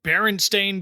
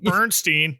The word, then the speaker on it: Berenstain: stain Bears which yes I now have to consciously say it like that because we all just collectively misread their name growing up and called them Bernstein nope that's wrong y um the same